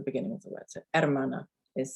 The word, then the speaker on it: hermana: h so the word hermana here your h at the beginning is silent yes it's not her